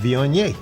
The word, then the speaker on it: Viognier: How you pronounce that? Viognier.